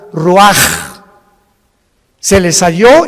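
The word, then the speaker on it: רוח: 29 del mismo capítulo y exhaló Isaac el Roach así como suena se pronuncia la ciah en hebreo como J Roach se les halló y se traduce espíritu y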